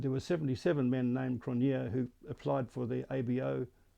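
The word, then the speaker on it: Cronjé: a lot of english people think that it's crunchy but in actual fact it's pronounced cronier now cronier is a fairly common name in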